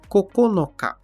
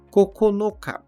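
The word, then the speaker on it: ここのか: Setembro que é kug a segunda leitura desse Candi é o Cocon Cocon que usamos na contagem de nove unidades coconuts coconuts como também na palavra referente ao dia 9 do mês cocona cocona e por fim o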